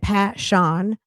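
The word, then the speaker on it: Pa'Shon: Go to my playlist, and her last name is spelled Mhoon. Passion, Paa apostrophe Shon, Passion, Moon with an H.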